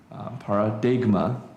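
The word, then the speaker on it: παράδειγμα: So we get the world uh in in Greek you pronounce the G paradigma. In English we don't like the gum sound coming together. So what do we do? Just ignore it.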